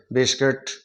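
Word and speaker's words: biscuit: यह हो गया बिस बी आई एस किट हम इस तरीके से बिस्किट इस तरीके से हम इसका उच्चारण करेंगे और जी यू ए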